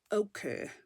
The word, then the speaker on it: ochre: I actually Googled it to know how to say it. And it's ochre.